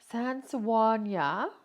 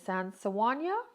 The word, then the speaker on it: Sennelier: And but I really am enjoying these um Sennelier. I think we'll say Sennelier. Is how you pronounce it, the Sennelier natural pigments.